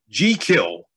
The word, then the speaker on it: Jekyll: fun point out that Stevenson said it was to be pronounce g kill oh nobody says that but but Stevenson said that was the proper way to pronounce it that was the Scottish way so um but but